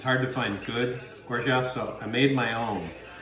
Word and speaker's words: orgeat: And for a Mai Tai, you need to have orgeat, which is the correct pronunciation. I looked it up. It's orgeat, like Zsa Zsa Gabor.